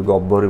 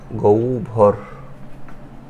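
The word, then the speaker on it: গহ্বর: এটা গব্বর নাকি গৌর অনেকে এটাকে আমিও বলি গব্বরই বলি এটা আসলে হবে গৌভর গৌ ভর এটা হলো হয় বইয়ের প্রথম নিয়ম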